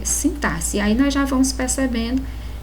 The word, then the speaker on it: sintaxe: palavra que nos pronunciamos sintaxe tá mas a pronúncia correta é sentar-se tórax e exorcizar então nós percebemos aqui que a palavra sintaxe traz sim o x traz som de s a então é exatamente